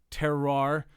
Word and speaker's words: terroir: And since 2008, Rogue has remained committed to saving the terroir of Oregon hops.